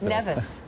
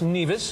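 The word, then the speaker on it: Nevis: the sun to relax neev yes that's right uh actually pronounce nevas oh nevas well see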